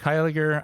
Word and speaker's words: Hiler: uh I I'm hiler on Twitter it is spelled how it sounds thanks for pronouncing that